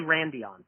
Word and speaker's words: Randian: So, is it Randian? Is that how I pronounce that? Yeah. Randian. It doesn't really matter. Okay. You just say, hey, you. We say Randion.